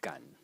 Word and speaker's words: 感: a character which is pronounced gun in the third tone and as a standalone